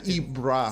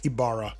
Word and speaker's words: Ybarra: that correctly uh lead it's like Mike iara ibr yeah iara it's like yeah ibra like iara ibra it's not ibra it's Ibara IA yes it's like the roll of the RS yes yeah so yeah